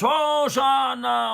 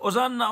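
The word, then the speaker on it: הושענא: Hoshana, Hoshana. Que les non-juifs, ils ont traduit, c'est intraduisible, mais ils ont gardé la prononciation. Ils ont dit Hosanna, Hosanna.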